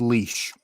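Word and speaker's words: Laois: county is that it took me ages to work out how to pronounce leash because it's not a spell like oh yeah lois yeah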